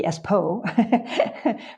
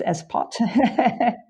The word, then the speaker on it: Espot: is the town of espot es P O T espot and I checked the t is pronounced I thought it would be ESP po but it's ESP poot that's one of those